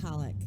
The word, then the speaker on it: Polik: i won't butcher it pollock that's how i pronounce it i'm glad i was